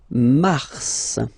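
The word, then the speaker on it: Mars: Okay then Mar okay so in a way it's an exception because normally final s is not pronounced in French okay we've got some exception and this one is one of them so pronounce the final s mar mar okay then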